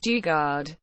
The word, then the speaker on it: Daugaard: Dennis Martin dard pronounced Dugard born June 11th 1953